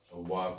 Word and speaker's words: walk: তারা রাস্তায় হাঁটে, they walk on the way, they walk, কের সাথে এল থাকলে, কের আগে এল থাকলে এল উচ্চারণ হয় না, walk, they walk on